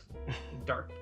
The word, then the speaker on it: Darq: me was this game called Darq. Although it's spelled with a Q. I don't know if it's like German or something, but Darq.